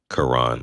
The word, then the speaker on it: Karan: Karan, like Karen. Oh, I I didn't I didn't realize that's how you pronounce that.